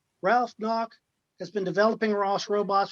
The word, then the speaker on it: Gnauck: I pronounced the G out of respect. Ralph Gnauck has been developing ROS robots for fun and profit for almost 10 years.